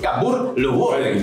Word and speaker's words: Cambuur Leeuwarden: Así es, Cambuur Leeuwarden. Pronunciación exacta buscada en los catálogos increíbles de la liga holandesa, entrando en el minuto 35 del segundo tiempo.